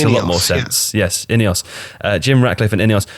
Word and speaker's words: INEOS: INEOS that makes a lot more sense yes any us Jim Ratcliffe and any us so Jim Radcliffe